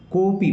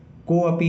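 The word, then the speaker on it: कोऽपि: इसका उच्चारण नहीं किया जाता। कोपी पढ़ेंगे, कोपी, को अपी नहीं पढ़ेंगे।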